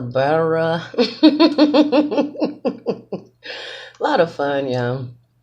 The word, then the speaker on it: birria: And I understand when pronouncing it, you have to roll the R on your tongue. So the BIRRIA.